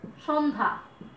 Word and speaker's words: সন্ধ্যা: আরেকটা উদাহরণ দেখো, সন্ধ্যা। দেখো দন্তস্বরের সাথে একটা ও আছে, সন্ধ্যা, স, ও পেয়েছি। তারপরে জফলা আছে, এটা হয়ে যাবে এরকম। এখন আমরা কিন্তু সন্ধ্যা বলছি না, কি বলছি? সন্ধ্যা, একেবারেই তালব্যস্য মতো, মানে এস এইচ এর মতো উচ্চারণ করছি, তাহলে হয়ে যাবে তালব্যস্য, সন্ধ্যা। লক্ষ্য করে দেখো, সন, এখানে কিন্তু নয়ের সাথে কোনো স্বরধ্বনি নাই, এই কারণে হস চিহ্ন দিয়েছি, সন্ধ্যা।